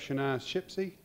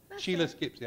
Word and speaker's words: Sheila Skipsey: If I could have Shania Shipsey. Did I pronounce that right? Sheila I'm sorry. Sheila Skipsey.